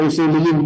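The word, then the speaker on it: أصوليين: Tulisannya asliyin, bacanya usuliyin.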